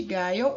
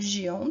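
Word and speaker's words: Guyon: A gente ainda tem a formação num cantinho aqui do túnel ulnar, ou loja de Guyot, ou Gion, tanto faz, né? A forma de você pronunciá-lo aí, tá?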